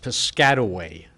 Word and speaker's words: Piscataway: native of New Jersey it is pronounced piscatway New Jersey thank you all right